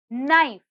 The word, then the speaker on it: knife: silent the next word knife knife knife here if you see k is silent let's have a look